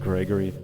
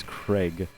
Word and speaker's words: Craig: photo bomb the head Gregory it's not Gregory my name is not Greg or Gregory it's Craig it's about like this